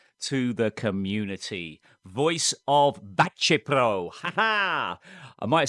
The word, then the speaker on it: Baceprot: But how do I know it's pronounced Bacepro?